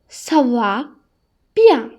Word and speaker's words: ça va bien: කියන්නේ මෙතන ගොඩක් හොඳයි නම් අපිට කියන්න පුළුවන් ça va bien කියලා. එතකොට මේකේ meaning එක I'm fine. ඒ කියන්නේ I'm doing well. මේක pronounce කරන්නේ කොහොමද? ça va bien.